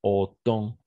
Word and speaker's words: autant: Alors, la combinaison des voyelles A et U, on va toujours prononcer comme un O. C'est pourquoi on prononce autant.